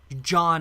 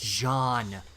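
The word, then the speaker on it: Jaune: hate when people say John Arc it's Jean it's the French word for yellow it would be pronounced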